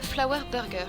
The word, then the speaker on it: Flower Burger: Et nous avons donc sélectionné le Flower Burger. Je le prononce à la française, comme ça met tout le monde d'accord.